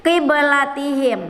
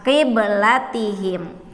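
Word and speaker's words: قبلتهم: Kita tidak berhenti membacanya, bukan qiblatihim, bukan seperti itu, tetapi qiblatihim. Maka huruf ba-nya dipantulkan, qiblatihim. Cara bacanya, ya. Satu lagi contohnya walanabluwannakum. Nah, nab, ya, walanabluwannakum qiblatihim, ya, qib nab, ya,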